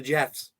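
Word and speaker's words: GEF: we got all the Jeffs a long episode GF yes pronounced Jeff it's pronounced Jeff oh thank you to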